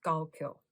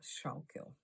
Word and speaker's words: Schuylkill: I've got the Burgundy Rose in my Schuylkill, and I've actually been told that it's pronounced Schuylkill, not Schuylkill.